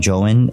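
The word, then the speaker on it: JOEN: really gonna do something so it's spelled j-o-e-n um if you guys want to look it up definitely look it up uh it's called j-o-e-n joe in and um again it's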